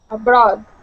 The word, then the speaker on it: abroad: And uh let's practice your your D sound at the end. At the end here, you said abroad. Okay. And and pronounced an uh more of an uh sound at the end. So let's stop right on that D.